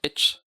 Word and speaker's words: YCH: Oh my god, I always pronounce them like itch. Itch. That's how it pronounces in Polish.